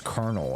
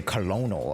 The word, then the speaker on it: colonel: I know it's kernel, okay? But it's kind of fun to say colonial, okay?